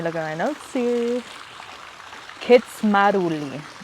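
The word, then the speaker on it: Kindzmarauli: It's just really different than what it's spelled like. So it is pronounced, let me look at my notes here, Kitsmaruli.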